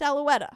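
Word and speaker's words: Auletta: say his name girl is it aloua aloa it's aloa okay great she says with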